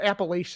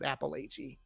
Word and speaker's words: Appalachia: even just the the the people of the the regions can't even decide how they want to have it pronounced it depends there's like six the Appalachia is divided into or some people say appalachi uh I think the the my my ancestors said appalache but I don't like that